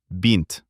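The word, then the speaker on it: бинт: The first one is medical bint. All the letters are familiar to us. B before e becomes soft. It turns out to be bent.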